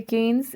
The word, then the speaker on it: Cannes: This is the Festival of Cannes, Festival de Cannes. It is how it is pronounced there in France.